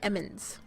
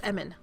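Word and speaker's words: Emmin: somebody named Emmons and I keep wanting to say Emmons but it's Eman certain what you were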